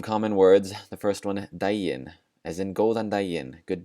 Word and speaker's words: daginn: The first one, daginn, as in góðan daginn, good day. Daginn, that G is just going to be pronounced like a J.